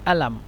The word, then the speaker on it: قلم: لكن المصريين هم ينطقون القاف يعني همزة، مثلا قلم يعني ألم، هكذا.